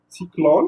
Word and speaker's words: cyclone: On vous donne par exemple le mot cyclone. Vous voyez, le O, il a une tonalité d'un O avec accent circonflexe, mais il ne porte pas d'accent circonflexe.